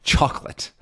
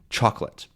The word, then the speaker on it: chocolate: um by the way what's the stressed syllable in chocolate good it's the first one stressed or stressed chocolate chocolate um and yeah I